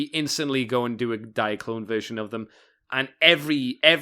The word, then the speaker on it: Diaclone: I used to think diaclone was neat, but Diaclone. You'd say it like that.